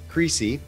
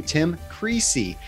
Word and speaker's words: Creasey: management firm and tim creasy not greasy that was his name